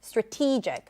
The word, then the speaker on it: strategic: that are shorter and in strategic then the t is the primary stress strategic strategic good um and help them